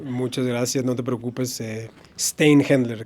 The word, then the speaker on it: Szteinhendler: Steinhendler, casi como se lee, pero sí tiene muchas letras.